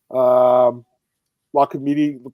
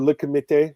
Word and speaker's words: Le Comité: La Committee, glad to have you here, man. Or Le Comité, I should say. Let me say it properly. Le Comité. The French pronunciation.